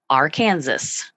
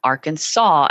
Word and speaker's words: Arkansas: you would say it AR Kanas like it looks like it's spelled but that's not right that's not not the right pronunciation it's Arkansas as if it ends with a W sound a w so you